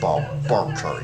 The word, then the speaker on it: Barker: Oh, yes, it's pronounced Barker. Yes, sorry, not Baker, it's Barker.